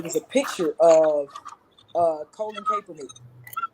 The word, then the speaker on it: Kaepernick: a picture of Colin Kaepernick. Is that how you say his name, Kaepernick? Colin Kaepernick, yeah.